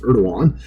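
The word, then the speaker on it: Erdoğan: I just know his last name is pronounced Erdogan is now facing criminal prosecution.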